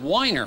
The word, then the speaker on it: Weiner: and international love broker rod weiner who pronounces it whiner who got his own